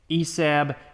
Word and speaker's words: ESAB: is everything Elliott and this is an esab or esab I mean there's no o but I have heard people call it esab I'm going to pronounce it esab because it's an a esab 285i you can see